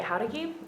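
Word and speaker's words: Jáuregui: Okay, my name is Howdegui, Jauregui, the little accent on the A.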